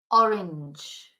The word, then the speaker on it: orange: the orange La narka so the orange not orang orange very tricky the pronunciation in English